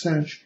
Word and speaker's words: sinh: If you're not familiar with the hyperbolic cosine, pronounced cosh, or the hyperbolic sine, pronounced sinh, you can use the